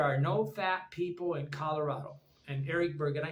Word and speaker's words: Colorado: people in color Colorado I got to say it like an English person instead of a Spanish person Colorado in in in Spanish you would say Colorado Colorado okay but I think